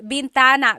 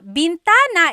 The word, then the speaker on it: bintana: Uh, driving said bentana. Bintana is actually window. So, Salamin is the mirror. Bintana is the window.